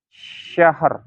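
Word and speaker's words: شهر: Misalkan di sini syahr ya. Sya-nya harokatnya fathah, ha-nya sukun, ro-nya diwakofkan kan, ya. Syahr, ya. Syahr, bacanya syahr.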